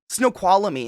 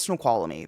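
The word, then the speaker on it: Snoqualmie: pass all the time I think it's snow quamy there's a there's another syllable between the L and the m and it unless you know you don't know right okay so you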